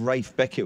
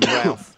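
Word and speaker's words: Ralph Beckett: It was just as well your pronunciation of Rafe Beckett was spot on there. He gets the humble if you call him Ralph, but I just call him the greatest.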